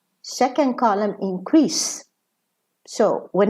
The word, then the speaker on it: increase: Okay, so here in the first column, increase. Second column, increase. So when it's a verb, the S is pronounced za. When it's a noun, the S is pronounced sa.